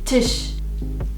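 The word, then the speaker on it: Tisch: kin now here is the tush which means table say it like the tissue but without the u Tish Tish this is my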